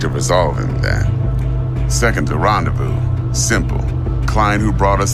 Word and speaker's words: rendezvous: This is a rendezvous. Rendezvous. Pay attention to the pronunciation because the spelling is very, very different.